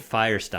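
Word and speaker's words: Feuerstein: your name I guess we were mispronouncing his last name wrong all this time it's Nate Firestone Firestone I'm thinking how appropriate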